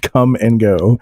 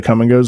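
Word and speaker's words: Kum & Go: It's spelled K-U-M. Come and Go, and then we also have so in like the northern part of the state we have Quick Trips.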